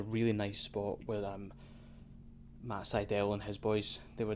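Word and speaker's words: Sydal: now next match uh matt seidel which is how you pronounce it by the way i made a note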